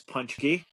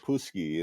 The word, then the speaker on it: Paczki: got a new puppy uh his name is punchki which is the Polish word for donuts oh that's how you pronounce that word yeah wait oh my gosh